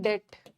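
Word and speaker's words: debt: या अब आ जाओ उसका वो कर्ज में है तो इन अ डेप्ट नहीं होगा इन डेप्ट बी साइलेंट होता है इन डेप्ट द हाउस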